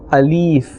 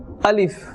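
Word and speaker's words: ألف: Alright, this first letter of the alphabet, some people incorrectly they pronounce it as Alif. So they pull this letter towards the end, Alif, but this is not right. The correct pronunciation is Alif.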